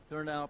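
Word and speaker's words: Thurnau: thuron um I can see that word there therow is that did I pronounce that correctly Perry that's right thow Professor uh at the University of Mich Michigan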